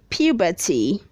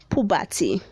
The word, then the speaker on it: puberty: read 335 says puberty say puberty don't say pubati red 336 says pupil